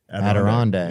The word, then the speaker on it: Adirondack: I don't know how to pronounce that word. Adirondack.